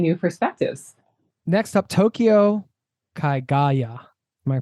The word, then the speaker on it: Kagaya: Next up, Tokyo Kaigaya. Am I pronouncing that correctly? Yeah, Kagaya.